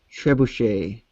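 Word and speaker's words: trebuchet: it says uh Tre buuck is typed catapult pronounced trebush big Su I wonder if we are getting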